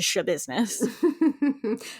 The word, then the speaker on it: Schabusiness: name last name to shab business it's spelled s c h a b u s i n e s s it's like business with a shha the Stu if you're